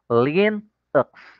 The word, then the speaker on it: Linux: Apple os let's proceed to Linux y It's pronounced Linux kakainin mo yyung u lulunukin mo Linux pwede na ung Linux Linux tagalog na tagalog